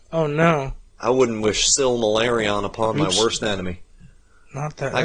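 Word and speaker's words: Silmarillion: know what it took i called it the similarion so long because that l is so hard to slip in there still malaria syllable just say similarion and then say still malarion and it's just feel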